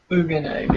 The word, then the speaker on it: Bugenhagen: Like you pronounced Buhagen earlier? Never had Bugenhagen. him. Bugenhagen.